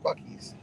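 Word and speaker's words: Buc-ee's: Googled it um and it's not it's not Bucky's like you would think it's spelled Bucky's it's B oh don't hit that Porsche sir he's already been hit um it's b u c b u c c Dash EES buckies that's pretty cool how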